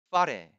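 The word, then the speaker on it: whare: 파레. 이거 뭐 입술이 보이지 않으니까 제가 몇 번 더 할게요. 파레. 양 입술을 이용하여 발음합니다. 처음에 파 할 때 그게 F자가 아니에요. 파레. 무성음이죠.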